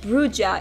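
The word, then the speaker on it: Brujah: First of all, we have Bruja, pronounced Bruja in this game and Bruja in Vampire the Masquerade Redemption, so we will stick to the first way.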